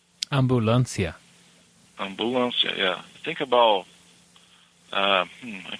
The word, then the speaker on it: ambulancia: It's similar to the way we spell it, ambulance, but we say it a little bit different, of course. It's ambulancia. Ambulancia.